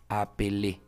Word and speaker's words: appelles: vibrante también pele Sí y la z final no se pronuncia pasa lo mismo que la s la z muchos verbos en la mayoría de verbos ya conjugados no se va a pronunciar por eso decimos apel Y estos en francés